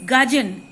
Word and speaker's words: gudgeon: The pronunciation is gudgeon, Gudgeon, means worthless fish.